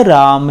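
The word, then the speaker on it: ರಾಮ: कन्नड़ में बोलते समय आपको बोलना है अवनु रामा। माँ बोलना है, अवनु राम ऐसा मत बोलिए।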